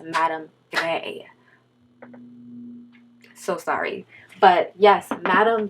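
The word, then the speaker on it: Madame Grès: embarrassed myself guys okay so her name is pronounced Madame Gray so sorry but yes madame gray is very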